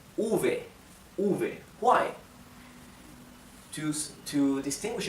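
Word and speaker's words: uve: to be theta good letter B it's called Ovey Ovey why choose to distinguish it from Bay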